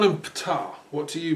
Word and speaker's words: Ptah: It's a shame, but this is, well, I call him Ptah. What do you pronounce it as? Bitah. Sorry, bitah. So you have in Arabic this long H sound, don't you?